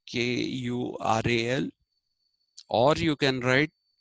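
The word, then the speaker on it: குறள்: the idea of a kural kural actually you have to really roll the r in uh when you pronounce it the tamilan way it is Kur there is not La sound kural so tiu is also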